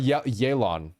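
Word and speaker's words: Yelan: Sorry, Yelon, I should say. I mispronounced the name after reading the mispronounced spelling.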